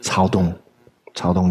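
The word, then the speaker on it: 曹洞: Irrespective of what we may think of Cao Dong, it's pronounced Cao Dong Chan, Soto Zen, through the lens of the kind of Japanese transmission.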